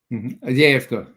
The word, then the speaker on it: Avdiivka: Isn't this, correct my pronunciation on it, the city, Avdiivka? Avdiivka. Yeah, well, it depends if it's Ukrainian and Russian. Avdiivka, you're right.